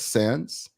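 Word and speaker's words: Sandys: Sands, right? I said it right.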